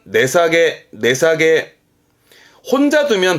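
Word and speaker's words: 値下げ: 발음은 내사게.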